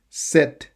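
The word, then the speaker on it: sept: 7. Sorry, the P, not the T. The P is silent.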